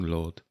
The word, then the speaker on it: Ludd: general, and eventually King Ludd, a legendary figure. And I'm sure it's no coincidence his name rhymes with Hood, as in Robin Hood.